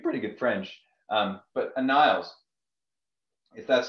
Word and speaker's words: Aniles: dana's level speak pretty good french um but a niles if that's how you pronounce it you've got it right honestly i